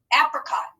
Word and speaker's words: apricot: i want you to pay attention to our middle syllable here where we have our open syllable exception where the eye is going to make the schwa sound or say it so let's scoop and read this together ready app red cot apricot you know what an